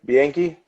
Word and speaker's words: Bianchi: my middle name, Bianchi.